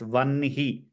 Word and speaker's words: वह्नि: तुभ्यं वह्निरपि ददौ तुभ्यम् especially in places where vanhi comes, it should be pronounced as vanhi, just like how we did vanhi.